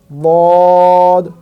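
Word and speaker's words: ض: সদের মধ্যে যদি উপরে একটা নোক্তা দিয়ে দেই, উচ্চারণ এবং পরের হরফ হয়ে যাবে বদ।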